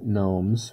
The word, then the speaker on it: gnomes: number of lawn lawn gnomes with the silent g of course gourd has so gourd